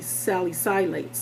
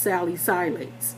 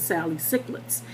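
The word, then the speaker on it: salicylates: a t e s Sally silat and that's how you pronounce it I thought it was Sally cets cuz I thought it had another c in there but it doesn't it's Sally silat and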